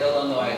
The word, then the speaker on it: Illinois: That's the name of the song, the state of Illinois. They spelled it out E-L-A-N-O-Y, so you know how to say it.